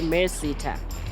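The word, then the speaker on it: MERSETA: even know how to say it it's actually mercita it stands for manufacturing engineering and related Services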